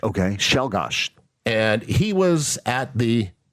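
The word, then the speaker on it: Czolgosz: His name Leon Shelgosh. And if you look at the way it's spelled, it doesn't it's not how it sounded, but it's pronounced Leon Shelgosh. Okay. Shelgosh.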